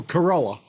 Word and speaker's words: Carella: Oh, Carella. CJ Carella. I was pronouncing it correct all of those years to my riffs group.